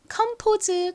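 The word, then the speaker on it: Compose: 있죠 어떻게 읽으면 될까요 먼저 가장 앞에 comom 부분은 C 키읔 소리 나고 오가 어 소리 나고 M이 미음 소리 나서 컴이라고 있습니다 그리고 뒤에는 P라고 되어 있죠는 피읍 소리 나고는 한국식으로 읽을 때 보통 5라고 읽습니다 그리고 끝에 있는이는 스 혹은 즈 소리가 나는데이 단어에서는 즈 소리로 쓰였어요 연결하면 컴즈가 되죠이 카페 이름은 컴포즈 커피입니다이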